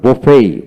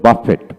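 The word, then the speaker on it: buffet: উচ্চারিত হবে না তারপরে বফাই বফ আমরা বলি বাফেট বাফেট না বফেই বফাই উচ্চারিত হয় তারপর আসেন দুই নাম্বার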